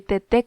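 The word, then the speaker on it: Teté: Yo soy Tete con acento en la E, en la segunda E, para ser más específica.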